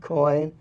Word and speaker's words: Coyne: Coyne, that's spelled C-O-Y-N-E, but pronounced like C-O-I-N, care of CCTV station, and this is 575 Trade Street, Northeast, Salem, OR 97301.